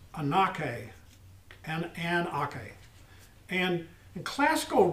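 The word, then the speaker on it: ἀνοχή: in a spell a-n-o-c-h-e it looks like a gnocchi but it's anakin and aka and in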